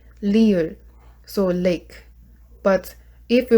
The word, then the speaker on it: 리을: And next one is 리을. So this one is sounds like L, but it's not R. It's very flat sound. We don't have like R sound, so it's really 리을.